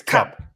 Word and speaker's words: Koepp: you you got that the O is silent but it's the shorty instead of the the longy it's cup I I think by